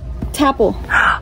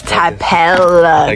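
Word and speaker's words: Tapple: you say it no that's not how do you say it how do you say it tap it's tapel girl we're at T okay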